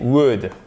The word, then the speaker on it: would: Donc au lieu de mettre would, et on ne prononce pas le L bien sûr, plus la base verbale, qu'est-ce qu'on fait?